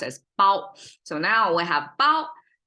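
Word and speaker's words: 包: It pronounced as bao.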